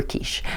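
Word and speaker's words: quaich: catalog instead of a silver qu a silver kiche and so I just stood up onto the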